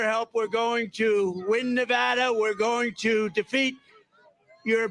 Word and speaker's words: Nevada: we love it and you always have to say it correctly Nevada you Ain got to call it Nevada with thousands of proud